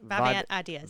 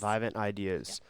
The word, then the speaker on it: Vivant: Vivant Ideas. Vivant Ideas.